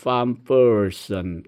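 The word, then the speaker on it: van Peursen: 이것은 1985년 판 퍼슨, 우리나라에는 그냥 반 퍼슨 이렇게 표기를 많이 했죠. 문화에 대한 책이나 여러 번역서가 있었는데 절판된 것도 있고요. 이번 대담집에는 보니까 판 퍼슨 이제 화난어 발음 그대로 표기를 했더라고요.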